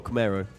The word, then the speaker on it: Camaro: Is it Camaro or Camaro? Yeah. In Holland, we say Camaro.